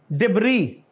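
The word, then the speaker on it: debris: मलबा, लेकिन इसमें एस साइलेंट है, डिब्री।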